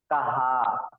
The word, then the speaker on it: कहां: वो अंतर हो जाएगा जैसे पहला है कहा और दूसरे में ऊपर अनुनासिक लगा हुआ है तो उसे पढ़ेंगे कहां एक कहा का मतलब